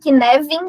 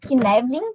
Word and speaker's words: Cynefin: Vocês viram que eu falei Cynefin, né? Apesar de ter um F aí, né? É um termo do galês, e aí a pronúncia correta, né? É Cynefin, com V mesmo.